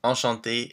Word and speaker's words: enchanté: The pronunciation is the same, so it's enchanté and enchanté, same pronunciation, but when you write it, we add the extra E to note that you're feminine.